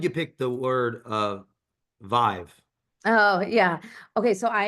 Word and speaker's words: Vive: like oh yeah it's Vive it rhymes with five it's easy no no